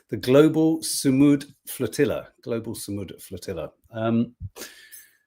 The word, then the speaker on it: Sumud: the incredibly brave global Saddam. Is it Saddam? I could never get the pronunciation correct. The global Sumud Flatilla.